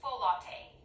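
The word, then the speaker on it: folate: their formula so what's full latte is that like a drink pronounced ballet and it's a B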